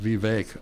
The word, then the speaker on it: Vivek: surprised with uh and I think it's pronounced Vivek Vivek not Vivek ramaswamy did one of the